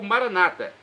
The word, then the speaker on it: Maranata: clamo Maranata com a tônica na última sílaba como dizemos nós os católicos ou Maranata com a tônica na penúltima sílaba como dizem os nossos irmãos separados os evangélicos ou protestantes não importa a pronúncia